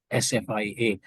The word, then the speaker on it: SFIA: It's called SFIA. It's pronounced as Sophia Skills Assessment.